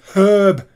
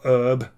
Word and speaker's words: herb: lifestyle not sedentary and it's herb not herb herb there's a h there watching fifa watching his